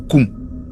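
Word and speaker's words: Nkoum: Alors ça s'écrit N-Ganga ou N-Koum, mais ça se prononce Ganga ou Koum.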